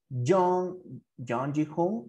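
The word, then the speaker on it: Jung Ji-hoon: His real name is John Ji-hoon. Así se pronuncia.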